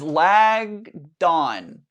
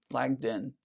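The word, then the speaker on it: Langdon: She says lag dawn. Lag dawn. Did I not pronounce it? Lag dawn. Maybe I said lagged in. Yeah, I said it lagged in.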